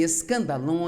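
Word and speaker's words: σκάνδαλον: A palavra ofensa vem de uma palavra grega, pronuncia-se escandalon, e é, na verdade, a parte da armadilha onde você pendura a isca que vai atrair o animal e permitir capturá-lo.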